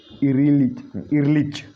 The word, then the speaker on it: Ehrlich: उसके बाद थर्ड है पॉल इरलिच, ठीक है। यहाँ पे H साइलेंट रहेगा।